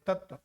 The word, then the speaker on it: तत्व: तो पहली बार जब आप उच्चारण करेंगे तो यहां तक तत और फिर आप बोलते हैं नहीं होगा तत्व।